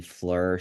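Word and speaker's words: FLIR: more userfriendly and lowcost we recommend looking at the Flur series it's spelled f lir these are used primarily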